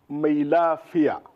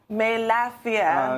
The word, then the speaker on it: Mailafia: But if I may gently correct you on the spelling, on the pronunciation of my name, it's Mailafia. Mailafia. And in the Hausa language, Mailafia.